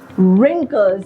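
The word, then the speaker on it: wrinkles: आर yes these are रिंकल्स एंड we have to keep letter W silent जज आर रिंकल्स ही इज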